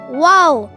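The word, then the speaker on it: واو: hi my name is wow wow you can spell wow in English as w a o w wow it's sounds like the English alphabet w w for wallet w w how to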